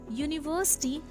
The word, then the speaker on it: university: Here, university, the first letter U is pronounced as Y-O-O sound, and hence it begins with a consonant sound, so we use a before it.